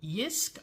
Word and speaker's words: JYSK: up at my local yisk I believe is how they pronounce it JYSK I think the J is silent if not feel free to correct me but anyway I got